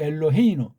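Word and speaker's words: אֱלֹהֵינוּ: 엘로헤누가 아니고 엘로헤이누, 엘레이누.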